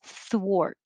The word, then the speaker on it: thwart: the last one was thwart that looks like ar but sounds like o-r and thwart is a